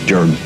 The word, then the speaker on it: Jordan: Now, in the cemeteries and things around Salem and down around Benson Township, you will see it spelled Gerden, Jerden, Jordan, but all of them pronounce it Jordan.